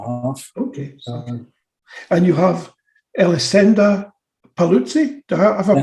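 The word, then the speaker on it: Elisenda Paluzie: And you have Elisenda Paluzzi. Have I pronounced that right?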